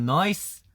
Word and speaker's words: nice: 나이스를 이제 호주식으로 하면은 나이스가 아니고 약간 noise. 아니다, 이거는 너무 같고 noise. Sounds very nice. 네, noise. 약간 NIC인데 N이랑 I 사이에 약간 O가 하나 들어가 있거든요.